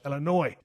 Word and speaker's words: Illinois: I know it's actually pronounced Ill-i-noy.